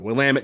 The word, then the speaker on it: Willamette: Very quickly, the people from the Pacific Northwest were very quick to correct the pronunciation of Willamette, damn it. And that's actually how the 2 people told us to pronounce it, Willamette, damn it.